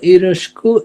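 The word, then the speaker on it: よろしく: প্রকাশ করা বোঝায় ইউরসিক তো ইরিকুকে একটু জাপানিজরা উচ্চারণ করে ইরস্কু সংক্ষেপে এতো ভেঙ্গে ভেঙ্গে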